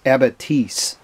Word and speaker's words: abatis: to emplace a Navitus I know by spelling people get confused and can't call it an abacus it's a batise is to connect pronounciation this is a log